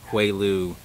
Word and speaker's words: Houailou: area here this is a sham Boronia species quail ooh so as you can see it's not spelled the way it's would be pronounced in like you know a Germanic language